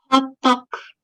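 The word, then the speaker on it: hotteok: Yang ini how you say this? Hot talk. Gimana? Hot talk. Hot talk. Oh, hot talk. Nah, bacanya hot talk.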